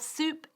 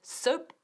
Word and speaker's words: soup: Y ojo con la pronunciación. Por favor, nunca dices soup porque te va a dar jabón. Y eso no está tan rico. To have soup, con ese sonido largo.